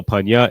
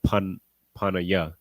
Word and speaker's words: Panya: So Panya is the root word. Now you know it's pronounced like that instead of Panaya.